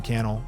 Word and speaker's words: Cannell: deeper my name is Sean Cannell rhymes with YouTube channel this is the think